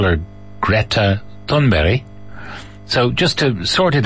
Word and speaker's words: Thunberg: bulletins and so on, that's not how you say her name. This is how you say her name. My name is Greta Thunberg.